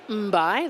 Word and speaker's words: Mbai: my name is mbai the unusual surname is pronounced M like tasty and then like sea so and